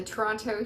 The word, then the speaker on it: Toronto: to my heart the toronto humane society and yes i live in toronto and i pronounce the second t um it's because i'm